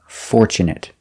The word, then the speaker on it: fortunate: Next we have fortunate. We use the short sound it fortunate because it's not a verb. Also with this word we have tu. Tu in the middle of the word is pronounced ch and not fortu but fort.